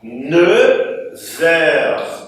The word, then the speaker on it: neuf: Diante de palavras como anos, outros, horas, homens, esse F aqui vai adquirir o som de V. Então, ao invés de neuf, vai ficar neuf.